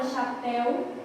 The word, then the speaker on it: chapéu: Aqui a gente tem, ó, na palavra chapéu, a presença de uma oxítona, porque a última sílaba é a mais forte, certo?